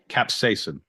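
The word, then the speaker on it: capsaicin: know how to say this cap cap app capsacin capsacin thank you also only ever read it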